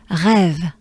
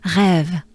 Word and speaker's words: rêve: And then with a v sound, rêve.